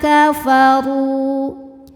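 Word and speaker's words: كَفَرُوا: Alladzina kafaru. Huruf ro dibunyikan secara tafkhim karena berbaris dommah. Maka dibacanya tebal pangkal lidah naik.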